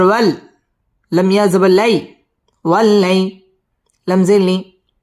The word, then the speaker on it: والليل: বাম পাশে জজম ওয়ালা ইয়া লিনের হরফ তাড়াতাড়ি পড়তে হবে ওয়াল্লাইলি ইদা মধ্যে তাবাই